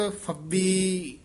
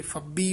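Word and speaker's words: ਫਬੀ: जीय को एहा वस्त फबी य फबी उच्चारण करना है फबी नहीं कहना फे नाल बोलना है फबी रओ इट मीत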